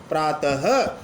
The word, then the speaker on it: प्रातः: से उच्चारण होता है विसर्ग सहित रूप को आप प्राप्त नहीं बोलोगे प्रातः यानी विसर्ग का उच्चारण